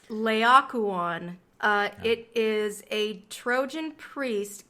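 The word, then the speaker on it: Laocoön: need I want to make sure that I'm pronouncing this correctly so I'm just gonna hear the naked me it's Leia Kwan it is a Trojan priest killed with his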